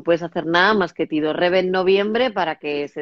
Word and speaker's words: tidorreve: Se escribe tidorreve, pero se dice con dos R's porque como es una palabra inventada, la digo como quiero.